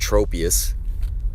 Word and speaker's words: Tropius: it's always the Pokemon I think would be in pronounced Tropius but I heard from somebody it's like tropical so Tropius all right [ __